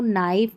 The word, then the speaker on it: knife: है तो यहां पर इन स्पेलिंग्स में के साइलेंट है जैसे नो नाइफ नी नॉक यहां पर उच्चारण पढ़ लें और